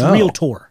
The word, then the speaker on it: realtor: it's spelled it's real oh there's no a it's real tour yeah correct okay but